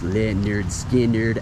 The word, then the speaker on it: Lynyrd Skynyrd: through life without my pronounced Le nerd skin nerd album or second helping nothing fancy Give Me Back My Bullets and if you're a true Leonard skinnard fan you own all